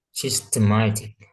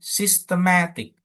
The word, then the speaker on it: systematic: Jadi kalau ada belakangnya IC, maka yang ditekankan itu adalah yang sebelum IC-nya itu berarti yang di tengah.